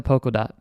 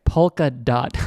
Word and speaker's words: Polkadot: You guys are going to click into Polkadot. See, I'm not saying it right. Polkadot.